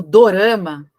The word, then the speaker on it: dorama: Mas, enfim, são produções asiáticas, como eu disse, mas o termo dorama, ele veio do japonês, né? A forma de pronunciar drama em japonês.